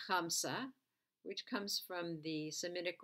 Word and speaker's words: Hamsa: You can Google this, Chamsa. You can spell it H-A-M-S-A, and see the other designs.